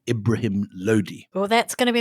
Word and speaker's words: Lodi: Anyway, Ibrahim Lodi, as you correctly pronounce him, is the Sultan of Delhi.